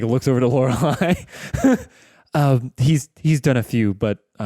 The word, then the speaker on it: Lorelai: Also, hi, I'm Lorelai.